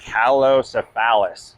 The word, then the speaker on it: Calocephalus: This is let me pronounce this correct. Calocephalus.